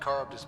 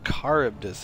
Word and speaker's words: Charybdis: Let's check out this Charybdis Point. It's not Charybdis, it's pronounced Charybdis. It's from Greek mythology.